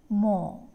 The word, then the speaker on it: more: quote next one d more more here three letters o r and e stands for the vowels are o and r is again silent next one bot bought